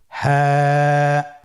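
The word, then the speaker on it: هاء: আলহামদুলিল্লাহ আমরা সাতটি হরফ শিখে ফেলেছি। বাকি তিনটি হরফ আমরা এখন শিখবো। আপনারা স্ক্রিনে লক্ষ্য করুন। পরবর্তী হরফটির নাম কি? হা। হা।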